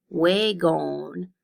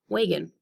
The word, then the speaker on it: wagon: When I read the second syllable with its long O vowel sound, which is O, wagon, that does not sound right either. So instead, I stress the first syllable, and the second syllable becomes a little bit of the different sound, and that is the schwa, wagon. All right, go ahead and read these words.